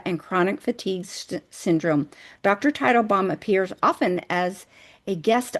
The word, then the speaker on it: Teitelbaum: Title, like the title of a book. Title. Dr. Teitelbaum.